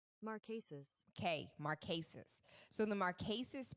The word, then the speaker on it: Marquesas: Y'all know we gonna do the correct pronunciation. I'm not butchering nothing else this year or next year. Marquesas. Marquesas. Marquesas.